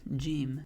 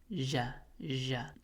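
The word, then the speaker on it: جيم: Similarly, jim is a light letter. Sounds a lot like the letter J, but some people who are native Arabic speakers sometimes pronounce it as ja.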